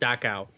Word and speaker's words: Dachau: I was in Dachau, or I think it's pronounced Dachau. Dachau, yes.